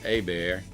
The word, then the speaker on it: Hebert: a few minutes later their friend hebert well they pronounce it a bear for the folks that don't know how to talk cajun comes walking through the